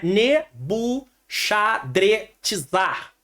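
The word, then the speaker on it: Nebuchadrezzar: Nabuco protegeu minha herança a forma que mais se aproxima do original do hebraico é nebushadrizar se você não conseguir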